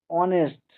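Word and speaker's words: honest: কিন্তু অনেস্ট অনেস্টটা এইচটা খানিকটা ও এর মত উচ্চারণ হচ্ছে যার জন্য এর আগে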